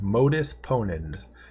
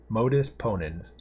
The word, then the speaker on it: Modus Ponens: So it's in Latin, and that's called Modus Ponens. At least that's how I've heard it pronounced. Maybe other people pronounce it other ways. But Modus Ponens.